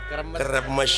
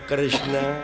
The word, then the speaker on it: Kresna: Tah eta Batara Kremes. Batara Kresna. Kremes aing mah. Padahal nu leresna mah Kresna.